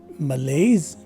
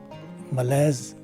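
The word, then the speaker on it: malaise: in the first variation the letter s takes a z sound and the letter e at the end of the word is dropped so this word is pronounced as either malays or males this is the tenth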